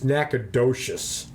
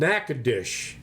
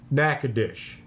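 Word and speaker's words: Natchitoches: wrong yes it's called nackadish that's the way it's pronounced nackadish and so I went in all confident yes said something to somebody about nacadas and they looked at me and they went nacadish and I said what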